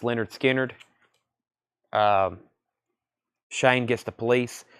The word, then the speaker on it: Lynyrd Skynyrd: their very first album pronounced Leonard Skynyrd um Shane gets the